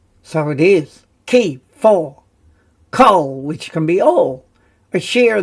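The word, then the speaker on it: כֹּל: And it's a kamatz grammar rule. In an unaccented closed syllable, usually the first, it is said as an O, and that's why rather than an A, we say an O, kol.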